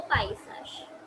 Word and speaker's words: paysage: कैन J'ai बो पाइसाश. ऊपर लिख लो प्रोनाउंसिएशन.